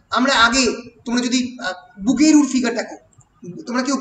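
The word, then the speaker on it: Bouguereau: Cubism মানুষের ধরো যে আমরা আগে, তোমরা যদি বুগেরুর ফিগার দেখো, তোমরা কেউ বুগেরুর নাম শুনেছ? একাডেমিজমের জন্ম বুগেরু, বিওইউ, বানানটা খুব শক্ত, বুগেরু, বানানটাই ভুল লিখেছি দেখো।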